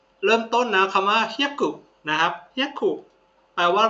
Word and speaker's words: 百: คน อ่ะ มา เริ่ม ต้น นะ คำ ว่า เฮี้ยกุ นะ ครับ เฮียุ แปล ว่า ร นะ ครับ 100 บาท นะ ฮะ เุ บซดes เฮยกุ บซดes นะ ครับ บา ซึ นะ ครับ เฮียกุ